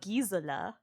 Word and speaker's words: Gisela: So, with the Germanic pronunciation, it's Gisela. Because the other pronunciation is Spanish.